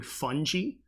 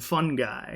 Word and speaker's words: fungi: again I feel like everyone always used to say fungi and now I keep hearing fun gee I don't know when that pronunciation changed but when I was like when I was in elementary and middle school I remember it was like a fungus and fun guy so fungi was like